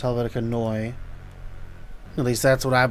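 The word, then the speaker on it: Helvetica Neue: the typeface well which some people say Helvetica new but it's pronounced Helvetica Noi at least that's what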